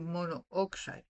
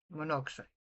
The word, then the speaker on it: monoxide: Y muchas veces, y esto funciona mejor en el inglés, por ejemplo, correctamente deberías decir monooxide, pero cuando lo pronuncias no dices dos O's, lo combinas en monoxide.